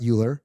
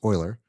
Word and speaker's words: Euler: so Euler Finance uh by the way not Euler it's pronounced Euler uh but it's it's spelled like Euler so